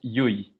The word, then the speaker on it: Llull: cool and that's al how do you pronounce your last name it's yui it's actually a bit difficult to pronounce because it's like uh from a catalan side of spain so not even spanish people can't pronounce it right so like i gave